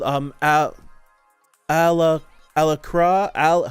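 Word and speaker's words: Alacrya: called um ah ala alacra al how do you pronounce it a a-l-a-c-r-y-e alacra alacra i think it's alakara i was thinking it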